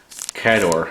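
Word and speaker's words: Khador: She's going to run, she'll run the Cador, I believe is how they pronounce it, army.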